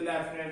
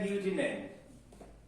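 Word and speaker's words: lieutenant: तो आप जरा स्पेलिंग पे गौर करें, LEIU, तो एफ की साउंड कौन सी चीज दे रही है जो लेफ्टिनेंट इसे कहेंगे? ये एग्जैक्ट इसकी प्रोनाउंसिएशन होती है ल्यूटिनेंट, ल्यूटिनेंट, ल्यूटिनेंट, ल्यूटिनेंट, ल्यूटिनेंट।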